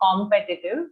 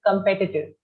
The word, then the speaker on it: competitive: the pronunciation of competitive we all tend to say competitive because of the o so just listen to it once practice it it's competitive okay competitive competitive yeah google